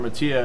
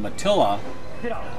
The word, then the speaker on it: Mattia: See, I always pronounced Laura's last name Matilla, obviously incorrectly, and she leaves another back-to-back 2-4-5. And her husband Steve, I know Steve, but I've never really asked him the correct pronunciation. I'm sure they'll probably correct us once we get this on the air if we are wrong. But isn't that Spanish when you the 2 L's make a Y sound?